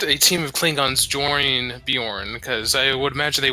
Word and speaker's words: Bjorn: from a nightingale leaving Bjorn the Jay is pronounced like a wide so it's Bjorn Bjorn okay okay some reason